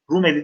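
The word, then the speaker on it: Rumeli: Osmanlıların mebadii zuhurunda Anadolu ve Rum elinin, Rum eli derken ili tarzında yazılır, eli diye okunur.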